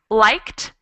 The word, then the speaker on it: liked: applied excellent thank you so does everyone see the difference between something like liked where we pronounce the ED more like a tea and something like added where we add a whole extra syllable we have added added and liked so for the first one just one syllable and the second one is two syllables does everyone see and